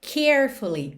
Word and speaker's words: carefully: E a palavra carefully, normalmente, quando você fala essa palavra, a sílaba tônica é a primeira, carefully. Carefully.